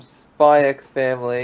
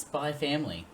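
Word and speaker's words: Spy×Family: have your forger from spyx family yeah and she's it's actually supposed to be just pronounced spy family you don't pronounce the ex I know because well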